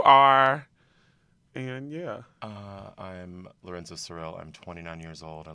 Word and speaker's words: Cyril: Lorenzo Cyril, right?